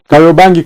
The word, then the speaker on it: Kariobangi: Yeah, Carry bags. Kariobangi, carry your bags.